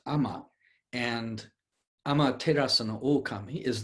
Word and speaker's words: ama: And so the character for heaven is pronounced ama, and Amaterasu no Okami is the sun goddess.